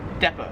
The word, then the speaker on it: depot: 32 is depot. So yeah, Americans, we pronounce it depot. In Australia, they pronounce it depot.